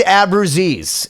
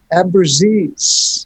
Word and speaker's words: Abruzzese: How do you pronounce it again? Abruzzo? Abruzzese. It's Indian. Abruzzese.